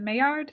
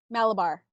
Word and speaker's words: Malabar: Yeah, really, that is it Maillard spinach? Is that how you say it? Malabar.